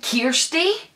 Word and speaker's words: Kirstie: irst why also it says it's pronounced k ee r s t ee am i Kirstie know a Scottish form